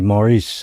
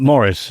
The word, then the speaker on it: Maurice: It depends how you say it. You know, a French lady said to me, Maurice, and it sounded better. Yeah, okay. Sounded nice. But Morris, I don't like.